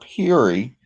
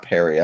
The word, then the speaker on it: Peary: It was actually Robert Peary, not Perry, I'm sorry, I pronounced it Perry.